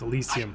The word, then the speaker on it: Elysium: It's Elysium. I've been saying it wrong.